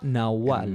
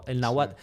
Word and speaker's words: náhuatl: Y todo esto es en lengua náhuatl.